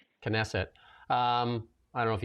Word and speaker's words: Knesset: And I don't if I'm going to get this uh pronunciation right, but Donald Trump's speech in a canstitic canet Kesset Knesset.